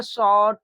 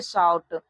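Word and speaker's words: shout: यहां पर इस शब्द को हम लोग सूट नहीं पढ़ते। यहां पर शॉट ऐसे नहीं पढ़ेंगे। यहां पर इसको हम लोग पढ़ते हैं शाउट।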